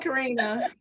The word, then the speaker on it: Karena: I can't tell you how many Karens, Katrina, Karena, They just always all get kinds of things. Mhm. I'm like, no, it's Karina.